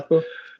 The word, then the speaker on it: pacu: Took me back to my college days because you guys pulled a pacu how do you pronounce pacu? Yeah, pacu.